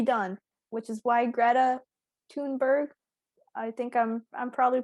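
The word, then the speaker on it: Thunberg: to pronounce her name probably it's stunnberg i think it's pronounced toonberg though it's th yeah but she's from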